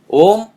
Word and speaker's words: Om: it is not so om is one sound only and it's one syllable only for the sake of